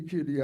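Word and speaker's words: Kiri: Kitty, kitty, kitty, Ati Joe means to jump and dance. Yeah, that's it. What is the pronunciation on that? Kitty, kitty. Like K-I-R-I. The I's are like double E.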